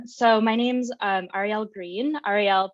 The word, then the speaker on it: Ariel: Ariel pronounced like the letters R-E-L, and green like the color, so that part's easy.